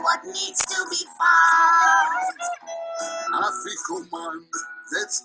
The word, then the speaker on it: Afikoman: Afikoman, that's how it's said.